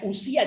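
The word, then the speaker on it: οὐσία: Ousía, también podría ser en griego ousía, se pronuncia usía, de ahí viene la palabra usted, pero bueno, ya no me meto en este rollo.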